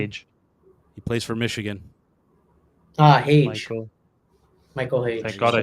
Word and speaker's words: Hage: Age. Oh my God! You mentioned the 4th. Come on, Age. He plays for Michigan. Hage.